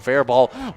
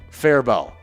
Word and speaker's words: Faribault: to pronounce uh ones which one is uh fair ball oh yeah it's fair bow fare bell that's what it is yeah faribault uh yeah